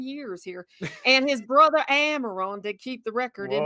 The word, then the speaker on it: Amaron: thus is the end of the record of amaron whoa it wasn't pronunciation there and thus is the end of